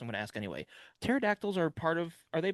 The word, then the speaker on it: pterodactyl: you can't hear pterodactyls go the bathroom? Cuz their pee is silent?